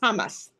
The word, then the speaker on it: Hamas: It says Hamas with a stress on the first syllable, Hamas.